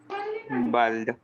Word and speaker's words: bald: The pronunciation is bald. Bald. No. Bald. Bald. Bald. The A is with an Bald. O sound. Say, Ba. say ball. Ball. Sorry. Tall. Ball. Bald. Understand?